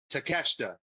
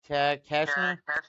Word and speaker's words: Takeshita: Takeshita. Te- It's kind of Tek- spelled like the way it's spelled is like kind of like Shida?